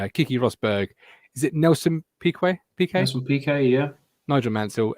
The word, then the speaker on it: Piquet: Because I can't quite decide how I'm going to pronounce that. Go through him again. Alan Jones, Kiki Rosberg. Is it Nelson Piquet?